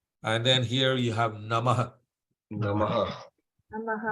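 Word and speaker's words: नमः: And then here you have Namaha. Namaha. Namaha. Right? So Namaha. Tasmai the Shri H, Gurave Namaha. yeah, the H with the dot under it is Aha. So Ah. Namaha.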